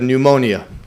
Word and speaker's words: pneumonia: example of the word pneumonia. It's spelled with a P obviously, right? So if you spell it phonetically or you know based on the way it's written, you would say pneummonia.